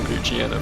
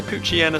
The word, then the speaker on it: Poochyena: effects they put on Poochyena for that attack. Sometimes say Poochyena, sometimes say Poochyena. Like hyena is pronounced, so you'd think it would be Poochyena, right? But Poochyena sort of flows better.